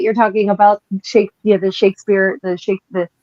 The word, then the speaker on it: Shakespeare: Know the second you're talking about Shakes the Shakespeare the Shakes the Shakisper family as it would have been pronounced in 16th century English.